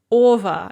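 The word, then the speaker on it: -ого: and the generative singular the ending is ova if they are hard or velar stem so we have cressiva and of course this ova is spelled or ge or but pronounced over and it doesn't matter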